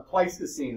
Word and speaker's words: Pleistocene: The Pleistocene is how you pronounce that.